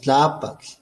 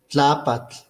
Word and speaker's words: Tlaapatl: Y si decimos tlapatl, tlapatl, está en la segunda A. Entonces aquí no se habla de acentos, aquí no se habla de palabras graves, esdrújulas, agudas, eso lo tiene el castellano y no aquí en náhuatl. En náhuatl hay intensidad melódica y esa intensidad melódica siempre está en la penúltima sílaba.